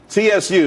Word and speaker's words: Tsu: Tsu, TSU. It's pronounced Tsu though.